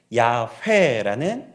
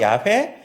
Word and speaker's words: 야훼: 여호와라는 이름이 야훼라는 발음이 되었던 것입니다.